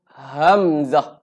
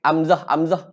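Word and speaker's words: همزة: Baik, yang seterusnya huruf hamzah. Okey, huruf hamzah. Okey, jadi ejaan huruf hamzah ni dia ha bulat. Jadi kita kena sebut dalam keadaan bunyi dia bunyi bis. Hamzah. Okey, jangan amzah elakkan.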